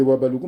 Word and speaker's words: Houabaloukou: Et moi, les Wabaloukou, mon père, il a mis H muet, donc c'est H à Baloukou.